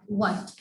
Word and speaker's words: what: H when comes after W. H जब W के बाद आता है तो ये हमारे पास साइलेंट होता है। इसको हम प्रोनाउंस नहीं करते, लेकिन इसको हम लिखते हैं। Like what? WHAT. Watched? No, it's wrong. It's not watched. It's what.